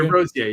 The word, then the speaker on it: DeRosier: I think it's like DeRosier, maybe? DeRosier, yes.